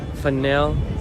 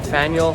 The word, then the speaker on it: Faneuil: Faneuil, how do you say that?